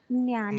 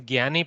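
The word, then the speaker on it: ज्ञानी: Jnani. Jnani. Okay, sir. Jnani. It should be pronounced nasal from the nose.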